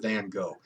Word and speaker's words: van Gogh: It's kind of like Vincent van Gogh. The right way to pronounce that is Van Gogh, but who does?